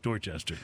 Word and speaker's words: Dorchester: it's pronounced worcester and then there's a neighborhood in boston called dorchester spelled the same way except with the d but nobody calls it duster it's just dorchester well you know never california